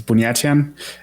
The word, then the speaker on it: Buniatyan: You almost perfectly pronounced my surname. It's Buniatyan, and I'm very excited to be here.